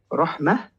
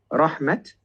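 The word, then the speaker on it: رحمة: For example, the word rahmah, instead of becoming rahmat, becomes rahmah with a bit of air with the ha.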